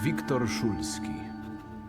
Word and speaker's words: Wiktor Szulski: My name is Wiktor Szulski.